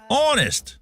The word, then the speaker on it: honest: Honest, the H is silent.